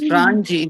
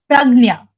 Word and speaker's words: Pragnya: It is Pranji. It is Prangia, isn't it? Pragnya. Huh? Pragnya. Pragnya. Yes.